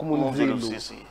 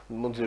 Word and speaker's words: Monzelo-Cessé: Mon nom, ça se prononce pas seulement par, il faut aller jusqu'au bout. Ah, oui. Monzelo-Cessé. Monzelo.